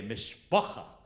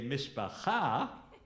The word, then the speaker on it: mishpacha: think if you say mishpacha, then that's Yiddish. And if you say mishpacha, that's Hebrew.